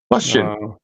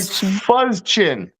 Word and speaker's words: fustian: I'd like to start an argument right off the bat that you're not pronouncing Fustian right at all. Fustian. She sounds like she's getting off on Fustian. Like Fuzzchin. Fustian.